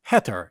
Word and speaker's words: Hathor: dandara is consecrated to hattor pronounced heter in egyptian meaning the house of